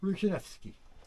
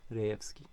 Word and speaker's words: Rejewski: And Ruzhinewski, right? Rejewski, yes.